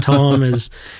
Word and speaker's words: kratom: Yeah, so they were very familiar with my work in in Kratom or Kratom. I call it Kratom. I've sort of acquiesced to the American Kratom is really the way it's pronounced in Thailand.